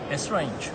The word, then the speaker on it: Esrange: Esrange.